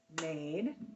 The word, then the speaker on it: made: It's made. M-A-D. Silent E.